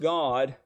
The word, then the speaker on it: Gad: see here that uh gad which is pronounced god is a deity with